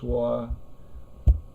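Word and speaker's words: 说: So this is the character that in Chinese is pronounced shuo, and this is the character that in Chinese is pronounced hua.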